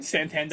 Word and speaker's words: Santander: Santander.